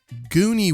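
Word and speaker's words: Guni: some really rad stuff so we've got uh gooney wheel and it's spelled g-u-n-i so check it out gooney wheel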